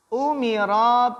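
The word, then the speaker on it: أُمِرَ: Wa ba'daha, dan setelahnya umira bil hijrati. Umira, bacanya umira karena diperintahkan.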